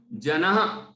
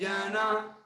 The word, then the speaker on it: जनः: ठीक है, मन्यः क इच्छति जनः, जनः जो विसर्ग है ना, ह जैसा उच्चारण होता है, हल्के हल्का सा, जनः सहसा ग्रहीतुम, ग्रहीतुम।